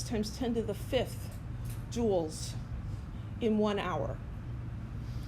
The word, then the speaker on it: Joule: of energy is the Joule it's spelled kind of funny it's that named after scientist jou le pronounced jewel like a jewel in a crown and the abbreviation is